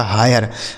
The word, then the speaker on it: hire: Next word है HIRE, यच से हो जाता है दोस्तों हाँ, आई का उच्चारण हो जाता है आय, RE से रह, यह लिखा गया आपका हायर।